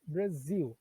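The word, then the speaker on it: Brazil: Então, em vez de eu falar Brasil, que nós falamos em português, a pronúncia em inglês é Brasil, tá certo?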